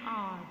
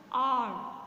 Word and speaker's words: hour: क्योंकि in this word H is silent. H का जो प्रोनाउंसिएशन है वो साइलेंट है, इसीलिए हम इसे आर पढ़ेंगे. आर.